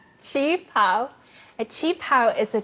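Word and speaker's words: qipao: How do you say that word again? Chinga pao? Chi pao.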